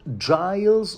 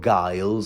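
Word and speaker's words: Gyles: Of course, there's a Lord Giles or Giles. I heard it pronounced both ways.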